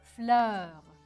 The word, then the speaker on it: fleur: بكتبوا بذات الطريقة ولكن بلفظوا je prononce d'une façon différente بلفظوا بطريقة مختلفة بفتح تمي أ وأول كلمة رح نشوفها اليوم une fleur une F L E U بهالطريقة بلفظها fleur